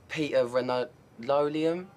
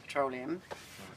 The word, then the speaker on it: petroleum: any of that um Peter Ronaldo Liam jelly okay so number one it's pronounced petroleum number two why are